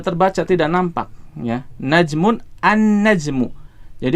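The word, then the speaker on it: النجم: ya najmun annajmu Jadi huruf lamnya melebur ke huruf setelahnya dalam hal ini berarti huruf nun ya lamnya tidak dibaca kita tidak membaca alnajmu tidak ya Salah Kalau kita membacanya dengan alnajmu tetapi bacanya gimana annajmu ya jadi di sini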